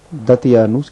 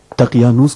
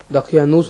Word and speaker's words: دقیانوس: ٹھیک سے تلفظ نہیں کر پاتا. دقیانوس کو دتیانوس کہتا ہے. اندر چلیے. روز بخیر علی جناب. دقیانوس نے آپ اور معززین